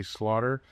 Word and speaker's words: Slaughter: Josh seems to think there's an H in there somewhere.